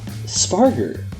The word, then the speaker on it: Spargur: research team and just allaround good guy sparer I believe that's how it's pronounced right yes you got it right all